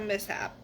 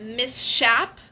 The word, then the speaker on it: mishap: combination industrial mishap um why is it called mishap and not miss shap you know what I mean like cuz it's spelled with this sh like why does nobody call it Miss shap like oh I had